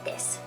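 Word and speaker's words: です: It's spelled desu, but you don't really pronounce the u, just desu.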